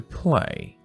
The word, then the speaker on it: play: take the ball to play a y a is a long a play with the others